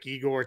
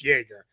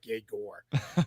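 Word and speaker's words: Egor: his name is Yes, it is Jaor is how you say his first name. Uh, yeah, I at first I thought it was like Eigor, too. I guess I like, well, he's Russian. All right, so it's Igor, right? But it's it's Jerger is how you say it. So, yeah, kind of like Jagger Meister, but more like Jagore.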